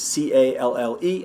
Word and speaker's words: calle: The double L, pollo, calle. Street is C-A-L-L-E, and that would be calle.